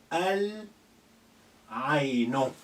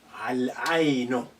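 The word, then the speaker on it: العين: So you're going to say Al Aino. Al Aino. Lam of retains the sukun because the moon letter has no shadda on it, doesn't require a shadda after the L of Next one, Farashatun.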